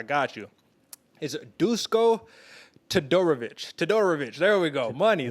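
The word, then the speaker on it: Todorović: dusko let me get you with the right pronunciation dog i got you is it dusko todorovich todorovic there we go money throw a little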